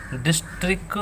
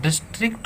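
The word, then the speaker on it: district: आप जरूर याद करें डिस्टिक बोल देते हैं डिस्ट्रिक्ट होता है यह तो आप डिस्टिक नहीं बोलेंगे दी आई जी एस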